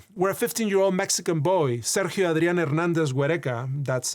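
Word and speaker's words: Sergio Adrián Hernández Güereca: We see this in the case of Hernandez Vimesa where a 15-year-old Mexican boy, Seri Adriana Hernandez Guerka, that's how you pronounce his name in his native Spanish, was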